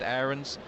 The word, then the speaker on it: Aarons: the left, Aarons, and it is Aarons rather than Aarons. After about 4 years of calling him Aarons, the club told us that it's Aarons and asked us to pronounce it the way the player himself does.